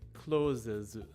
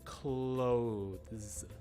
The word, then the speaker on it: clothes: very close the word clothes like the things that you wear that has a th sound in the middle of it so the tricky thing